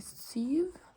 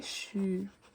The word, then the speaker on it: sju: So this one makes like a sh sound, okay?